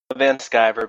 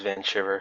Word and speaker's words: Vanshiver: you're an American so everybody's going to go with the German pronunciation not the random American pronunciation well I'm American so